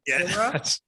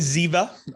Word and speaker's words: Ziva: Zera? Is it Zera? It's Ziva.